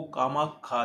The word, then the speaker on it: कामाख्या: की योनि घिरी जो कामाख्या नाम से प्रसिद्ध हुई। स्थानीय भाषा में श को ख उच्चारण किया जाता है। अतः कामाक्षा देवी को कामाख्या देवी कहा जाने लगा।